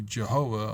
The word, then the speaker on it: Jehovah: or when you see Jehovah all capital letters with a J that's the way it's said with a soft G not with a Y sound and the V isn't replaced with a W because that's Yiddish it's